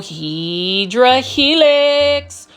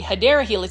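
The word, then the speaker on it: Hedera helix: to offer every single Hedra helix or what you call the Hideera helix. It's the correct way to say English ivy or all of the different types of um Costa Farms trending tropicals plants.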